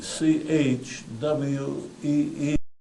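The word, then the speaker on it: chui: heart sound stomach H even though it's spelled c h UI it's really pronounced c h w e e if there's a kidney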